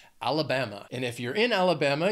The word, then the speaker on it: Alabama: these alphabetically is Alabama it has four syllables and the stress is on that third syllable that bam Alabama and if you're in